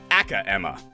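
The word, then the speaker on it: Acro: Aka Emma is how it's pronounced.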